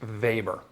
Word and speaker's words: Weber: was a guy named Ernest vber spelled Weber Ernst vber he was one of